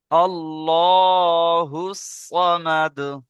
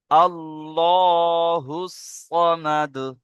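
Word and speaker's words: ٱللَّهُ ٱلصَّمَدُ: দেখেন, এটা বানান করলে বুঝতে পারবেন, এখানে আছে হামজার আবার জাবার আছে, তাহলে কি বলবেন? হামজা লাম জাবার আল, হামজা লাম জাবার আল, লাম খাড়া জাবার ল। কারণ এখানে আল্লাহ শব্দের আগে জাবার আছে, তাহলে কি হবে?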